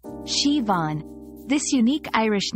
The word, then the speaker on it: Siobhan: name Shian is pronounced shivon this unique Irish name features a soft shush sound followed by a stress on the second syllable rhyming with lawn remembering this pronunciation can